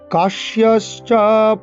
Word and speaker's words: কাশ্যশ্চ: কাশ্যশ্চ কয়াকার তালিব্য জফলা তালিব্য ছয় তালিব্য বর্ণ শয়ের উচ্চারণ করতে হবে।